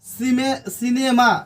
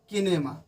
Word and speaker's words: cinema: सिनेमा CINEMA सिनेमा होता है, न कि किनेमा।